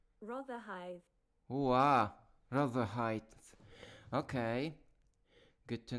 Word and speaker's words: Rotherhithe: Rather the pronunciation. Let's see. Rotherhithe. Rotherhithe. Rotherhithe.